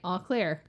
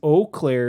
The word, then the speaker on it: Eau Claire: learn how to speak it is eau claire is the correct french pronunciation all clear is what the like people of michigan say because we can't pronounce crap even though we're settled